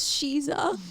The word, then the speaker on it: Sheisa: No, it is SHEISA, pero you said SHEISA.